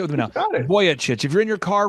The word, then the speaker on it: Vujicic: how are you sir I'm good uh the pronunciation is voyich voyich everybody say with me now voy chit if you're in your car right now you're